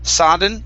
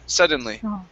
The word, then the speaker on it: suddenly: suddenly yeah okay so here you had said sadden saw suddenly instead of sadden it's uh sudden suddenly let's try one more